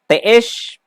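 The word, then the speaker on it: te'ex: Y el otro siguiente que son los teesh. Ustedes. Ustedes. Teesh, así se pronuncia.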